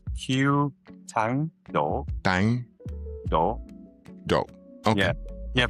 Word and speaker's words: Q Thang Do: So I don't want to mispronounce is it Q Thang Do? It's Q Thang Do.